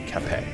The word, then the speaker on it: Capet: That's how you pronounce Capet, is Capet.